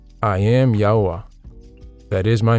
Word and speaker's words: Yahuah: been given and never been lost it is yaha yah I am yahwah that is my name in my esteem will